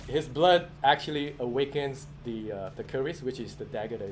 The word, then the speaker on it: Keris: So the Malay word for that is Keris. Mhm. So in English you can call it Chris.